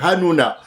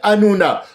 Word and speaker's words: Hanouna: Alors, d'abord, il s'appelle Hannouna. C'est Cyril Hanouna. Alors, il y a pas de Hanouna. Les juifs ne ne prononcent pas le ha.